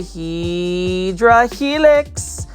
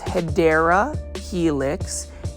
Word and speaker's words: Hedera helix: This is a Hydra helix. This one is, the correct way to say it is Hedera helix.